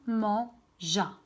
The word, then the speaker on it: mangea: Je dois rajouter le E pour prononcer le son ja. Et comme ça, voilà le résultat. Il mangea.